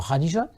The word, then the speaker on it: Khadija: au service d'une veuve, Khadija. Les musulmans prononceraient ça bien mieux que moi en disant Khadija.